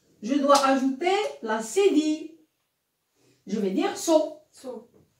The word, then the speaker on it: cédille: Ça s'appelle une cédille.